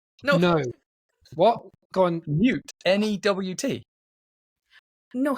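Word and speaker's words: Nhut: N-E-W-T. No, his is like N-H-U-T. Wow. Okay. Actually pronounced Newt.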